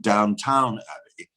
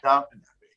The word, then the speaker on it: Downton Abbey: But I love the fact that everybody keeps mistaking him for a character in, as they put it, Downtown Abbey. Yes, I did. Who pronounces it right is Svetlana, who refers to it as Downton Abbey.